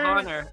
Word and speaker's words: Hayner: Is that how you pronounced it? Yeah, Honor.